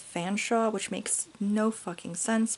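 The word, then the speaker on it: Featherstonehaugh: brother, Harry Featherstonehuff, or Featherstonehuff? I don't know. Their last name is spelled really crazy. So the name looks like Featherstonehuff, but I believe it is actually pronounced Fanshawe, which makes no fucking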